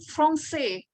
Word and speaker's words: français: Nih, bahasa Prancis itu sudah tahukah kalau misalkan dibunyikannya itu dengan français ya. Tulisannya dengan français. Huruf C-nya itu ada ekornya di bawahnya ya.